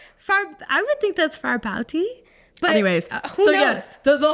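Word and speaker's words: Fárbauti: a u t can I see it far far bouti rooty for booty for booty far I would think that's far bouty anyways so yes the the whole point of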